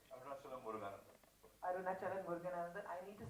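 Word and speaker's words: Arunachalam Muruganantham: point of view, and you've made him portray Arunachalam Muruganan. Have I said it right? Arunachalam Muruganan. Arunachalam Muruganandan.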